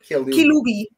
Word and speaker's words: Kilubi: Am I pronouncing right, your last name? Kilubi.